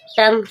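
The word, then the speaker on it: tongue: आया you silent है टंग टंग means जुबान जी के बाद यू आया है यू साइलेंट है इसको कोई साउंड नहीं आएगा टंग जब भी ध्यान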